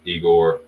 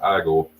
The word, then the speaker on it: Igor: Lee again I'm on igore eigor actually it's pronounced igore so I like the